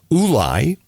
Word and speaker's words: Ulai: uh area, this river, Ulai, is is what we're told that this actually it is phonetically as it sounds. It looks like u l a i. It's Ulai.